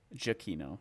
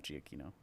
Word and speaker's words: Gino: it is my man it is a Gino jino not Gino well it's spelled Gino so that's what I'm saying